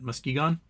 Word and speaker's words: Muskegon: mus musan mus how do you say that Muskegon Michigan for two million all right we do